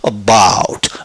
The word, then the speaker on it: about: 것을 아주 상징적으로 보여주지요 about about 어를 아주 짧게 어를 입밖으로 내려고 하지 말고 about about about 그 이제 어때요 여러분 이미 자꾸만 이렇게 되죠 이제 우자 발음 결 의로 발음해서 about 어 어느 소리를 약하 약해 하려고 그러니까 about 이러다 보니까 소리를 약하니까 바 이렇게 되잖아요 그게 바로 이제 원어민 소리에 가까워지는 거예요 자 두 번째입니다 a